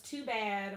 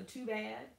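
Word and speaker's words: Tubad: His handle is Too Bad online, and it's spelled like tuba with a D on the end, so Too Bad online.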